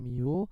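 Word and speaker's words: μ: sini ini ada atonya Jadi kalau rumus Miu ini ya bacanya Miu itu rumusnya adalah massa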